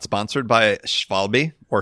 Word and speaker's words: Schwalbe: Is that a question about if I'm a fan of the Schwalbe marathons?